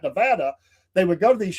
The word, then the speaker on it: Nevada: Nevada where my sister says, you got to say it like that. Nevada.